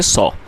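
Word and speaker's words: saw: अच्छा यहाँ पर कई लोग इसको सा पढ़ते हैं, तो दोस्तों आप इस बात पर भी ध्यान रखें कि जो आपकी जो प्रोनाउंसिएशन है आप उसको सही करने की कोशिश करें, क्योंकि हमें इसको सा नहीं पढ़ना है, हमें इसको सॉ पढ़ना है।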